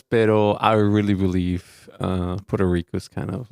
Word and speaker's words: Puerto Rico: how they say it they don't say it like Mexicans say it a Mexican would roll the RS Puerto Rico and a Puerto Ric will be ptoo like an L okay you're exaggerating now